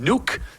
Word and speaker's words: Nuuk: So it was a wonderful time in Nuuk. That is how you say it, not Nook, it is Nuuk.